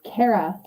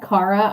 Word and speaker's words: Kara: your name i'm sorry kara kara i mean if you said cara i would still know you were talking to me but it doesn't really matter cara ah okay supergirl kind of screwed all the cameras up because they do pronounce her name cara it's fine cara cara as an apple okay all right so